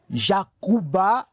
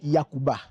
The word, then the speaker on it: Yacouba: Mais dans la lettre, dans la culture des Dans, la lettre J se prononce mal. Au lieu de dire J, on dit Y. Donc, du coup, au lieu de dire Jacouba, on dit Yacouba.